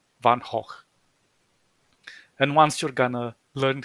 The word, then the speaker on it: van Gogh: name very wrong because he was Dutch and his name is pronounced correctly Vincent Van hoch not Van Gogh or something like that it's Vincent Van hog van hoek and once you're gonna